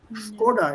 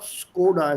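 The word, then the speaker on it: Škoda: That S with that accent on top has to be pronounced as sh. Which is the same S with that accent in that motor car, Skoda. Have you noticed that? On the S there is this accent. Skoda it is, not Skoda as we pronounce here.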